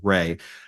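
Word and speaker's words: Reay: it's it's spelled re e a y but pronounced Ray the gentleman that I was paired up with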